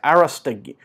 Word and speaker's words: Arostegui: Okay, Arostegui. A-R-O, with a little mark, S-T-E-G-U-I. I'm the worst pronunciator ever, so we'll just go with that.